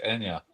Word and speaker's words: Anja: so we're saying your name wrong. It's Anya.